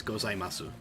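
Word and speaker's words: ございます: So like, gozaimasu in Japanese, gozaimasu, ohayo gozaimasu. Nobody says gozaimasu, right? They cut off the u at the end. But that is part of the syllable. It is ohayo gozaimasu. It's 5 syllables, right?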